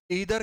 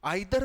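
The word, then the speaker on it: either: भाई, क्या सुना होगा, ईदर के बारे में, लेकिन बोलते गलत हो, आइदर बोलते हो। क्या बात यार, प्रोनाउंसिएशन इतनी खराब किसने करवाई है आपकी। नाइदर बोलते हो, होता नीदर है।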